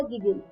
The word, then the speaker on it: gigil: GIGIL गिजिल या गिगिल, GIGIL गिजिल. Pronunciation आप दोनों में से कोई भी उठा सकते हैं. लोग दोनों तरीके से प्रोनाउंसिएशन को यूज करते हैं.